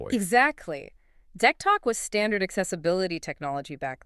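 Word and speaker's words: DECtalk: Back in the early 90s, the sources say he was using something called Deck Talk, right? Spelled D E C T A L K, usually pronounced Deck Talk.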